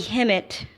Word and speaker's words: Hemmit: god of hot Bobby himmat which actually let me see would be Kim it kind of he his name rhymes with Kim it you know you take